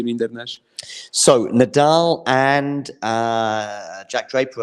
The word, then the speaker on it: Rinderknecht: Like they just don't correct people when they say Rinderknecht. But I think initially, I think it was supposed to be Rinderknecht.